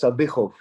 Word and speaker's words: Sadykhov: So because of the KH, it makes a ch sound. So it's Sadykhov.